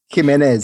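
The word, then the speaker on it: Jiménez: guy Abel I think Jimenez that's what I'm going with the pronunciation which one was thatz oh J J is like an H Jimenez Abel Jimenez Jimenez Jimenez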